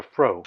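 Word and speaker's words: froe: Now, he just referred to a fro. Now, you youngsters out there that don't know what that is, that's spelled F-R-O-E, and it's like a corn knife-shaped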